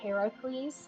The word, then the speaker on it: Heracles: Um, the Greek pronunciation is Heracles, named after his mother.